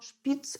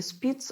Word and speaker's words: Шпиц: В частности, такой немецкий врач, как Шпиц или Спиц, в общем-то, по-разному эта фамилия пишется, из буквы Ш, из буквы С.